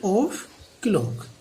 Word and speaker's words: o'clock: ये जो ओ के बाद अपोस्ट्रोफी का चिन्ह लगा हुआ है, यहाँ पर एफ साइलेंट है, अंडरस्टूड है। 8 o'clock, ये हम आपको पहले भी एक्सप्लेन कर चुके हैं।